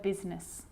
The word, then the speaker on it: business: or rhyme good news that I is not usually silent it's usually pronounced except in the word business okay okay now I